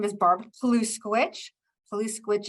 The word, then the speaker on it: Poluskowicz: Poluskowicz is spelled the exact way it sounds, Poluskowicz.